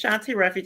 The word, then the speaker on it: Shawnti Refuge: U, my name is Shanti Ruffage. I love the way you say my name. I had said that in the background. I love how she says my name. I love Yes. And you're saying it correctly.